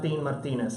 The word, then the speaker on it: Martinez: My name is Martinez, and I know what you're thinking. Some of you can roll your R's, others can't. Just call me Martine.